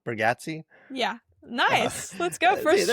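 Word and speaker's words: Bargatze: The Breadwinner, the Nate, I always say his name wrong, Bergazzi.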